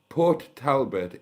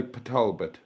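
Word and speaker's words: Port Talbot: Um Port Talbbert is not pronounced Port Talbbert. I know that but I'm not sure what it is in Welsh. What is it in Welsh? Um we say Patalbert because I know I know car is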